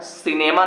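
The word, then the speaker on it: cinema: पढ़ोगे सी के बाद आई आया है ना सिनेमा ना बहुत बढ़िया अगला देखो समझा देता हूं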